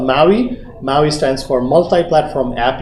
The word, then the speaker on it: MAUI: This is called MAUI. MAUI stands for Multi-Platform App UI. The P is silent because MPOWI sounds like you're punching somebody.